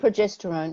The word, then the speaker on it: progesterone: And I understand the hormones estrogen and how do I pronounce it? Progesterone, is it? Progesterone, yeah, Yep.